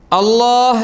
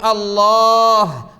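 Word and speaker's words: الله: ഒരു കാര്യം കൂടി പറയാട്ടോ അവസാനത്തെ അക്ഷരം ഏതാണ് ഹാ ആണ് ആ ഹാ ഇല്ല കുറെ ആളുകൾക്ക് കുറേ പേർക്ക് ആ ഹാ ഉച്ചാരണത്തിലേ വരില്ല എന്നിട്ട് അവര് പറയും അള്ളാ അള്ളാ സുബ്ഹാനള്ളാ അൽഹംദുലില്ലാഹ് അസ്തഗ്ഫിറുള്ള നോ നോ അത് അൽ ഇലാഹ് എന്ന അർത്ഥം കിട്ടണമെങ്കിലേ നമ്മെ പടച്ച പരിപാലിക്കുന്ന ഹാലിക്കായ റാസിക്കായ റബ്ബ് എന്ന അർത്ഥം കിട്ടണമെങ്കിൽ ആ ഹാ അടക്കം ഉണ്ടാകുമ്പോഴേ ഉള്ളൂ പറ്റുള്ളൂ സുബ്ഹാനള്ളാ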